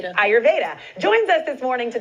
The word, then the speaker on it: Ayurveda: Ayurveda? Ayurveda.